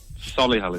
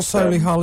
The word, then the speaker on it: Solihull: Isn't it Solihull? Well, that's how you say it. Solihull is how commoners say it.